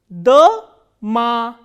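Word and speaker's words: дама: Here, this O is unstressed, while this A is stressed. So, how will we pronounce this word? Da-ma, dama.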